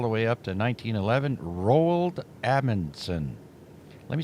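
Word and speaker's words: Roald Amundsen: Rald Ammonson. Let me spell that for you.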